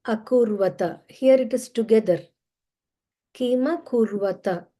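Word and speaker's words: किमकुर्वत: Kima kurvata. So you can pronounce it like Kima kurvata Sanjaya.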